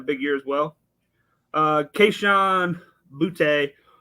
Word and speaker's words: Boutte: Kayshon Boutte, or Booty, however you pronounce it. I think it's Boutte, so I'm going to go with it like that.